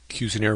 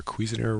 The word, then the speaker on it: Cuisenaire: I'm going to introduce cuire rods or cuisiner rods depending on your pronunciation and they are a